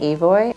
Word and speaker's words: Evoy: My name is Evoy. It's pronounced like the singer, just so you know.